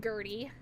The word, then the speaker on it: Gertrude: It's pronounced Gertie.